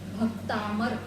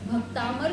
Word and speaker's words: भक्तामर: शब्द पहला ही शब्द है भक्तामर। यह शब्द आप लोगों को बोलना आना चाहिए विशेष रूप से। बहुत से लोग भक्तांबर शब्द की जगह भक्तांबर शब्द बोलते हैं और